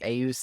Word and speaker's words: Aus: What do you think of the names Os and Assa? That's spelled A-U-S and A-U-S-A.